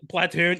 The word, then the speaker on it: platoon: the way that I'm saying platoon is spelled is like PLAHH like Platoon. TWOON like platoon.